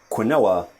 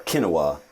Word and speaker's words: quinoa: Number 2 is quinoa, which of course should not be pronounced like that. It should be quinoa or quinoa at best.